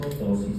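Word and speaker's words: ptosis: Tosis palpebral. Tosis se escribe con pt o s i s.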